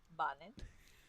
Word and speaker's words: Bonnin: If we were to say it correctly, it's Bonnin.